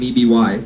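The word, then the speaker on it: Eby: how do you say that last name? E-B-Y? E.B.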